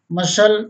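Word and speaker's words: muscle: सी यदि एस के तुरंत बाद आए या के और क्यू से ठीक पहले आए तो सी साइलेंट रहता है। देखें सीजर्स मीन्स कैंची, असेंड मीन्स चढ़ाव, मसल मीन्स मांसपेशी, सीन मीन्स दृश्य, एक्वायर मीन्स प्राप्त करना, एक्नॉलेज मीन्स प्राप्ति सूचना।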